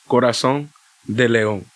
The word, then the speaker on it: Corazón de León: Even though the way you say it properly is Corazón de León. Now, Corazón de León. Corazón de León. He's mad French, bro. You're not French, it's Spanish, bro.